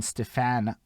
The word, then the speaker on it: Stephan: Bridge the Gap is the show where myself, Holden, Stephan, Roy. So if you saw my Facebook poster earlier, it's Stephan. That's how you pronounce my fucking name.